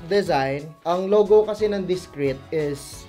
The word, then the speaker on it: DIZKRĒT: Discreet, pronounced as Discreet, is a Philippine-based streetwear brand founded in 2017.